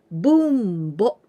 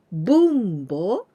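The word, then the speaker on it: 分母: Bunbo. This bo, it is haha. It means mother. Bunbo, it means denominator.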